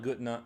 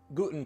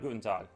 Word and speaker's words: guten: good day in German uh not guta uh guten that's right guten I forgot to say